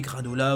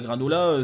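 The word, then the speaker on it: Granolah: Alors je rappelle, en japonais, le R se prononce L, enfin c'est entre un L et un R. Donc en gros, bon ok, granola, ok la blague on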